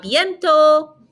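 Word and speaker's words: bientôt: and bai all right so notice we're not pronouncing the t on the end so it ends in an o sounds a biento see you soon see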